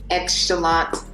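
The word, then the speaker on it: xChalant: Yeah, I mean, you can follow me on Instagram at Chalant. The X is silent.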